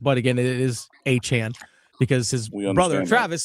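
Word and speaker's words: Etienne: way, I understand that a lot of people pronounce it ETN. That's how it used to be pronounced. But again, it is Achan because his brother Travis said that's how his name, their last name is actually pronounced.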